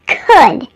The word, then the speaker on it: could: me don't forget that the L in the words would could and should is silent it's could would should there's no l in those words if you need a